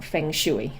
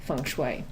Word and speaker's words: Feng Shui: and say you know tell me about fanguy and I know that's what it's looked like it looks like but it's actually funu it's known as the